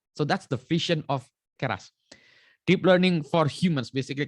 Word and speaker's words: Keras: No, that's why ini keras. No, Pak, you pronounce it keras. Okay, now we know. Just like Batak, keras bah, gitu ya. Just like so you pronounce just like orang Batak, keras.